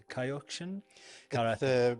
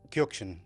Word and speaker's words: Kyokushin: So, let's talk about uh your uh this something maybe people are unfamiliar with it is Kaioshin pronounced Kyukshin Ky.